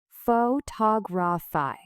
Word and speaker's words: photography: But when you add a suffix, the stress shifts. Photography.